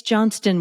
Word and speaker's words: Johnston: me to no end it's Johnston with a t like Johnson but just add a t in I say every single